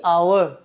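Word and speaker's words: hour: আবার সেম নিচে একটা এক্সাম্পল দেখো, হচ্ছে দি আওয়ার। তাহলে দি আওয়ার কেন বলছি? কারণ এখানে এইচটা তো কনসোনেন্ট, কিন্তু বাট কনসোনেন্ট হলে হবে কি? এর উচ্চারণ হচ্ছে আ। তাহলে এই এইচের উচ্চারণটা আয়ের মতো হচ্ছে বলে এখানেও সেম এই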